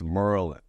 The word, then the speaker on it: Maryland: it the same way so he's like it's Merlin and everyone in the